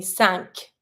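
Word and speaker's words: cinq: one exception why because in this one you pronounce the Q it's one of the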